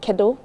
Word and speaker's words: Kedu: It's like hola, but it's kedo. Kedo. Kado? Yes, sir. How do you spell that? Kedu. Kadu.